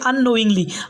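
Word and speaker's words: unknowingly: बाद हमारा नेक्स्ट है अननोइंग्ली अननोइंग्ली का मतलब होता है ऑफिस जाने में अनजाने में मतलब अननोइंग्ली यहां के साइलेंट है कि को नहीं पढ़ा जाएगा तो जैसे एग्जांपल है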